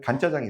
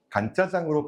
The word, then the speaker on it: 간짜장: 간을 맞춰서 간짜장이라고 생각하는데 사실은 마를 건자를 써서 건짜장이에요. 전분을 넣지 않고 조금 더 마른 스타일로 나온다라고 해서 건짜장이 간짜장으로 발음이 됩니다.